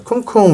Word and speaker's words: 쿵쿵: 감사하겠습니다네 우리 미랄 선생님이 가끔 큼 큼이라 많이 얘기하시는데 큼 아니고 쿵 있니다 쿵쿵 있니다 발음이 좀 셌어요네 아 이거는 느낌이 오시겠지만